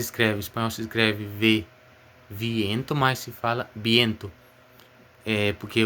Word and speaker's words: viento: viento, mas se fala viento. Porque o espanhol na verdade não tem esse som de V. Não existe esse som de V em espanhol. O som da letra V em espanhol é B.